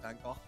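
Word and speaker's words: Van Gogh: uh yeah it's like how Americans and Europeans PR uh pronounce Van van go differently like yeah because like Europeans will pronounce it vano um on that topic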